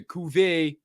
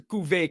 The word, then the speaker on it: Cuvée: Cuvée, it's spelled like Cuvée, but I think it's Cuvée because they have a little shit.